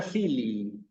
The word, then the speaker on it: filii: La palabra filii. ¿Sí? Sucede exactamente lo mismo. La palabra, cuando yo la pronuncio aquí, tenemos que hacer un esfuerzo porque se escuche la dicción, digamos, de las dos I.